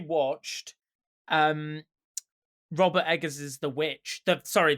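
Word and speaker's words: The VVitch: well i actually watched um robert eggers is the witch the sorry the vic say schumer's people pronounce it get it right from 2015 and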